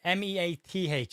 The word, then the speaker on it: Meath: M-E-A-T-H. I say Meath because that's how we pronounce it.